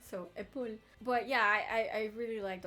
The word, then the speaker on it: épaule: But it's not épaulé. Épaulé means to shoulder something, so like to support something, but épaule is the shoulder. So that E, when he says that, should be silent. So épaule.